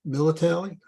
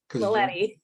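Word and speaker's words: Mileti: the leaders in disaster research, like Quarantelli and Militelli. I know I butchered that name, sorry. Maletti.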